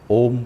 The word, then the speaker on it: ओम: इस बार पूरा ओम, पहले अ, उ और फिर म।